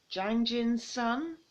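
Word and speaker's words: Jang Jin-sung: the state my escape from North Korea by Jang Jin's son and that's how you pronounce that name but yeah um this is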